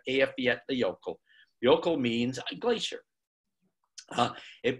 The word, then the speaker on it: Eyjafjallajökull: And it took me a lot of working on that, but I can now say Eyjafjallajökull.